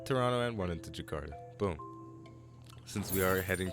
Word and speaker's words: Jakarta: towards toronto and jakarta mr. alok told me how to pronounce that a little better i was saying that Jack harder I believe but uh Jakarta Jakarta I hope I'm saying that right but either way I